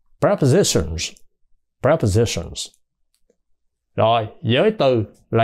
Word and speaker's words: prepositions: nha Họ đọc là preposition số nhiều thêm s vô và phát âm là Z prepositions prepositions rồi Giới từ